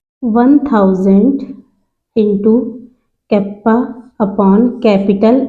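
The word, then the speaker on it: κ: Specific conductance को हम ऐसे के से डिनोट करते हैं और इसको प्रोनाउंसिएट करते हैं कप्पा से।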